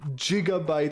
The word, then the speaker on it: gigabyte: say that in hebrew you say jigabyte in hebrew because it's easier to